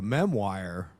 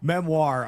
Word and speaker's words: memoir: I called it a memo wire and I've been corrected in my comment section. It's actually a a memewire. So, uh, anyway, no, I'm just kidding. Memoir. I'm screwing with the people. I'm trying to troll them back by mispronouncing their correction. It's a It's called a memoir, apparently.